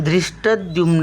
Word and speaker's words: धृष्टद्युम्न: फोड करून स्पेलिंग तयार इथे ध्रुव आहे पण बोलताना आपण दृष्टदुमन असं उच्चार करतो स्पेलिंग लिहिताना तसा लिहायला पाहिजे